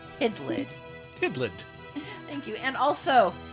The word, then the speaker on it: Hydlide: Bush 33 month resub I pronounce it idlid hidland thank you and